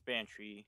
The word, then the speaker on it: Banshee: So no, I hear a lot of people calling you Banshee and other people calling you Banside, so I it's Banshee. It's just spelled weird. But okay. I don't care, either works.